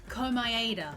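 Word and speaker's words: Komaeda: victim Nagato kuma ada call my ADA that's how you pronounce his surname thank you hide him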